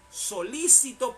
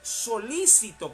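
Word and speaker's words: solícito: de joel y jehová solicitó porque hay que leerlo con la puntuación de vida solicitó no solicitó sino solicitó con acento en la y solicitó es decir interesado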